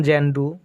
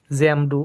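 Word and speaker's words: Xanadu: এই জানাডুকে বিভিন্নভাবে উচ্চারণ করা হয়, যেমন জ্যান্ডু, জ্যামডু অথবা জিয়ান্ডু।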